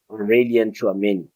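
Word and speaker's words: Aurélien Tchouaméni: Yes, I'm pronouncing it finally right. His name Aurelian Chouameni.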